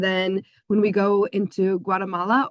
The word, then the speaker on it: Guatemala: And then when we go into Guatemala or as it's pronounced, Guatemala, we'll walk around and hike up around a bunch of different ancient Mayan runes in Teal.